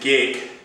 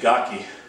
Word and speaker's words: gake: Sometimes I've pronounced it gake, but Sensei Philip Porter, my longtime sensei and friend, recently passed away, always pronounced it gaki.